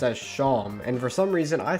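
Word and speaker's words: Seam: he says is that my name is pronounced sham so i'm sorry about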